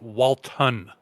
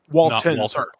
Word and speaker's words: Walton: Walter goggin and I I don't want to go forward without saying it's Walton Walton oh sorry okay yeah sorry the first people typing us email saying hey you guys keep saying his name wrong okay so M Mr